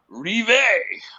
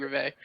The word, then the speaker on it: Rivet: I like Craig Rivet. I'm just surprised you wouldn't like Craig Rivet. I used to say Rivet because I didn't know you were pronouncing French. Rivet, That's Rivet, so I was like Rivet.